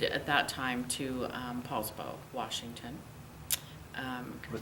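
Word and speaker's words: Poulsbo: So, we moved at that time to, um, PSBow, Washington. Um, what's the name of it? PSBow, Washington.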